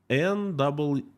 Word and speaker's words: NEET: N-E-E-T, Neet, pronounced Neet.